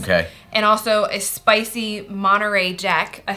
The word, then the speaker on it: Monterey Jack: And also a spicy Monterey Jack.